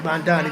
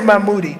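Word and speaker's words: Mamdani: Mandani. Not Mand. I say Mammoodi, but it's Mandani.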